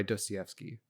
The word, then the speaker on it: Dostoevsky: I had written down The Brothers Karamazov by Dostoevsky. I literally have a pronunciation as a sticky note because I get it wrong every time.